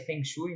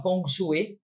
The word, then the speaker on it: feng shui: Shui né que eu descobri hoje que não se pronuncia Feng Shui né que é a organização da casa do Lar do ambiente e tal chama fong chu né tá fazendo a